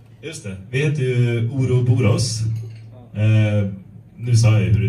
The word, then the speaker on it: Ouroboroz: Vi heter ju Ouroboroz. Nu sa jag hur det uttalades, så nu spoilar jag det.